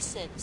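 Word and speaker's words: Cyn: Hurry, my love, Sin. I think that's how you say his name. It's C-Y-N. I think Sin's a good way to pronounce it.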